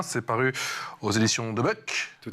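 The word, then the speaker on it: De Boeck: C'est paru aux éditions de Buck. Tout à fait. C'est comme ça qu'on prononce, effectivement, c'est franco-belge, il me semble.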